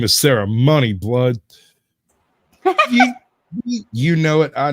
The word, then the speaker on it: Mooney: is Sarah Mooney told probably pronounces it money my name is Sarah money blood you know it